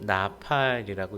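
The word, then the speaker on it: נפל: 엎드리다라는 단어가 히브리어로 나팔이라고 읽습니다.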